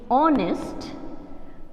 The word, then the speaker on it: honest: h o n e honest man now you see here it is consonant the alphabet beginning is consonant but the sound which is being produced at the beginning is not a consonant sound it's an